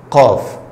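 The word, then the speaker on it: قاف: Qaf. Qaf, c'est pas K, mais qaf. Qaf. La gorge est un peu ouverte.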